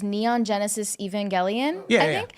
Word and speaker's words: Evangelion: Yeah, Which I'm not sure how to pronounce it. It's Neon Genesis Evangelion. Yeah, I yeah, think. Evangelion.